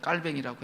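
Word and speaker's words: 칼뱅: 칼빈이 분 깔뱅이라는 분 그 그분이 원래 프랑스 사람이니까 원래 발음 대면 깔뱅이라고 해야 되는데 이분이 인간의 본성에 대해서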